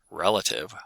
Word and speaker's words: relative: Relative with stress on the first syllable, but relativity with stress on the third syllable.